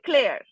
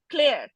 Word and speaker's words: Claire: Jack and ক্লেয়ার। ঠিক আছে, Kala. উচ্চারণটা ক্লেয়ার, CLAIR, ঠিক আছে।